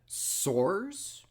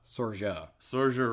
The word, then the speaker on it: Saoirse: Soares? No, that's definitely wrong. Okay. It's closer to, but definitely not exactly, right. Saoirse Ronan. We're going to call it Saoirse Ronan.